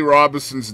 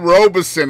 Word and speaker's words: Robinson: No, I said Robeson instead of Robinson. Oh, okay. Well, at least you didn't throw an N in there, man. No, I didn't do Robinson, no.